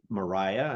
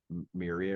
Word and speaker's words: Myhriah: And we're joined today by Myhriah, and I have the right pronunciation. And now I know that Dan Miller put in my head that her name was Myria or Myra.